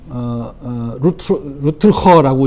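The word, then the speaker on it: Rutger: 보시면은 뭐 네덜란드 사람이거든요. 루틀허라고 읽더라고요.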